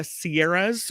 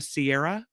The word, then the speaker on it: Sierra: mistake but people did said the sieras with an S instead of just the Sierra the phones would ring off the hook of people correcting that new reporter it's not the sieras it's the Sierra you wonder why people